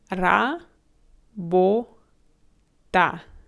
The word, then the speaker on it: работа: Once again, you end every syllable with a vowel. Ra, bo, ta.